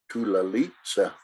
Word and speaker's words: Tulalitsa: name was Kunam, but her last name was actually pronounced Tulalitsa, and yeah, so it was something to kind of start trying to decipher, a name like that.